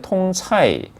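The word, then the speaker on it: 通菜: 여기 이제 광동어는 통초이라고 하고 이 중국 본토식 발음은 이제 통차이 혹은 뭐 콩신차이라고 하는데 영어로는 모닝글로리라고도 많이 알려져 있는 그런 요리입니다.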